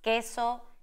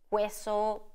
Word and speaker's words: queso: And then we have silent U after the letter Q, and we pronounce queso, kiosco. We don't say queso, kiosco.